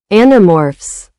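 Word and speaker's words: Animorphs: Anomorphs.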